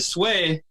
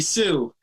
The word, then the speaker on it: Sweh: so when you shorten it to sway it's su e2 way but if you write it down people are gonna see people calling me soo so I spelled phonetically s to be aged